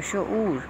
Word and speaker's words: شعور: لگانے ہیں۔ ہمارے پاس شعور ہے لفظ پہلا، شین پہ پیش، عین پہ پیش، واو پہ جزم، اور یہ اپنا تلفظ خود واضح کر رہا ہے، شعور۔ رسائی، را پہ زبر،